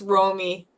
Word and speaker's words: Romi: new person to introduce to our team uh Ramy do you want to introduce yourself uh uh it's pronounced Romy Romy Romy do you want to introduce yourself